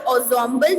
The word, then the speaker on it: ensemble: So here the word ensemble means इसे examples नहीं pronounce करेंगे, its correct pronunciation is ensemble.